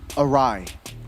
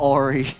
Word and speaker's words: Arai: Arai, it's how it's pronounced. Arai not AI.